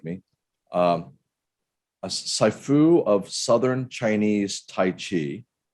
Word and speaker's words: Sifu: A Sifu of Southern Chinese Tai Chi. It's Sifu.